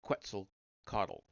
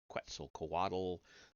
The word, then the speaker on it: Quetzalcoatl: figure of the horned and feathered snake god Quetzalcoatl. I know it's Quetzalcoatl. There are all kinds of different pronunciations for that.